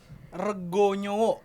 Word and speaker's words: Rego Nyowo: How do you pronounce that? Rego Nyowo. Rego Nyowo.